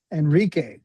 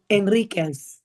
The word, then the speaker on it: Enriquez: And my guest right now, I have Jocelyn Enrique. Did I say it right? Enriquez. Enriquez. Add I the should Z. know this. Don't forget the Z.